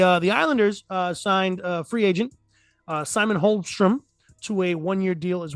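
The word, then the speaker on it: Holmström: The Islanders signed free agent Simon Holmstrom to a 1-year deal as well. He's going to be. Did you just pronounce the L?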